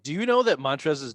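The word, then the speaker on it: Montrezl: The L is silent. Montrez.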